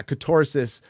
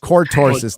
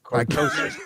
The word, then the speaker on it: cortosis: Yeah, catorsis. Did I say this right? Cortorsis, not catorsis, not contortion. Cortorsis. Cortosis.